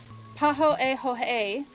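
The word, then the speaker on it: pāhoehoe: So, so this is they even give a pronunciation paho a hoe which even sounds swirly when you say it out loud.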